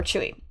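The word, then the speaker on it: Tzuyu: uh her name is zsi I think is my best pronunciation that I can give as close to the Mandarin but people call her chew that's how they say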